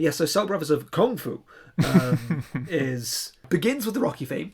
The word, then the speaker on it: Kung Fu: Kung Fu is how it's said every time. Yeah. It's not Kung Fu. It's Kung Fu. It's accented on the up rather than the down.